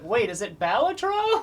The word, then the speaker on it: Balatro: up batro idea that the Creator intentionally pronounced it differently in every interview just so fun like sometimes he would say batra sometimes he would say batro I say batro yeah really really yeah